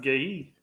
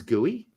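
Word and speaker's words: Guéhi: worse than I thought it's pronounced gay no BMR you're totally incorrect it is gooey I've been told by gooey's Mom and Dad that the people have been pronouncing his name incorrectly good I.E all year and that they wait they would like to be pronounced oh there you go not good goo ey gooey I don't know either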